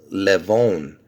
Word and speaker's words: Levon: I'm calling it see I would pronounce this levonne Levon because I'll tell you why because see Levon the meaning of the name means lion and where does it originate from from Armenian you see that I'm